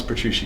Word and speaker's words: Petrucci: incredible John Petrucci hello did I pronounce Petrucci correct you did Ruchi like Gucci Brian I will never